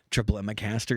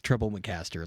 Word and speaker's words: Treblemacaster: Um, triple miccaster is how most people pronounce it. And it's like, no, it's treblecaster.